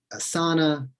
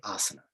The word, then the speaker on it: asana: terms properly right so instead of saying asana you know they should say asana right basic stuff and